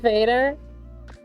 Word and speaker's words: vader: You want Dutch Darth Vader? I mean, sure. As a bonus, a fun fact. Vader in Dutch. The same spelling, but we pronounce it vader. Means dad. It literally means father.